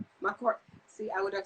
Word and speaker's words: Mchorgh: to say it wrong the last name is mccord my court see i would have